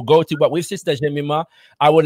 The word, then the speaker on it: Jemima: and by the way, I am correct in saying it's Jemima, yeah? That's correct. I was worried you were going to mispronounce it, but it is Jemima, yes.